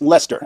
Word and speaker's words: Leicester: Yes, Americans, it's pronounced Lester, it's where John Merrick, aka the elephant man, was born.